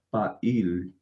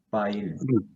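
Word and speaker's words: פָּעִיל: Será pa, la P, debido a que tiene el punto con la Kametz, será pa. Sí. Y la Ain tiene una Hirik acompañada de una iot, es una I alargada.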